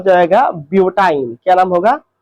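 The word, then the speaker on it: butyne: तो C4H6 का नाम हो जाएगा ब्यूटाइन। क्या नाम होगा, ब्यूटाइन। लास्ट का आइन शब्द उच्चारण करना है, आइन।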